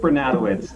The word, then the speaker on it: Bernatowicz: So it's Bernatowicz, and it is a wise decision by Tish.